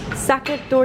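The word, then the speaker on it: Sachertorte: me to order and it's pronounced socket socket door did I scream here's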